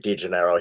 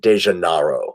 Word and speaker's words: DeGennaro: to pronounce my name i told them my name was degennaro he told me to spell it he said no that's not your name your name is de janaro and he's correct that's